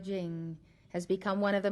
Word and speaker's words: Ching: the Han Dynasty gave it the title da Jing after the two main concepts of the book Dao meaning way it is spelled t a o dur meaning virtue or